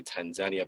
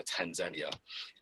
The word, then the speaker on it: Tanzania: time in tanzania and i say tanzania because over there they accentuate the second syllable of the the name so tanzania and that was kind